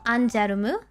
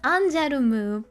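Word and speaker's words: ANGERME: It's pronounced Anjarumu because it is supposed to be like angel and larme, which means like tear. It's supposed to be pronounced in this weird French, this fake Japanese French.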